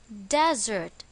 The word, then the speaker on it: desert: it is pronounced as desert this time the stress is on the first syllable desert examples the setting of